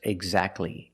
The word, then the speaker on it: exactly: And when you see T between consonants, it's silent. Don't pronounce the T. If you link the sounds, do not pronounce the T. Examples, exactly and Christmas.